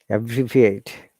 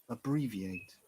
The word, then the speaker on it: abbreviate: Abbreviate. Abbreviate. Abbreviate. I'm sorry. We are stressing an bree. And also there's a short sound at the beginning.